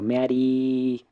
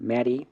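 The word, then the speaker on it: メアリー: Obviamente cuando uno habla así rápido o común, no naturalmente tampoco que va a estar estirando meari, no es mari y punto.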